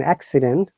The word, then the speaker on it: accident: So, like soccer, but if it is a different sound, then it must be pronounced like an accident. First C is ka, but second C is sa.